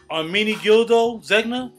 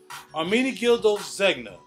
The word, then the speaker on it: Ermenegildo Zegna: The Ermenegildo, how do you pronounce that? Ermenegildo Zegna? Ermenegildo Zegna.